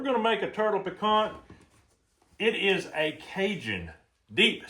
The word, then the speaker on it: piquant: You've got to, if you're going to do it right, according to a cinjun, you got to ignore that T. It's not pecant.